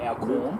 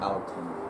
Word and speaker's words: Alcon: So it's not Alcorn. Alcon.